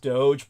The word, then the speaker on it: DOGE: efficiency along with his I think it's pronounced Doge but Call It Whatever yeah oh I know that correctly it's pronounced Doge but I'm going to call it dodgy because it's DOD right give yeah don't